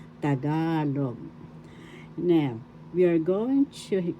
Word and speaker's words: Tagalog: ka third syllable log the accent is in the second syllable tagalog that's how you pronounce it correctly tagalog now we are going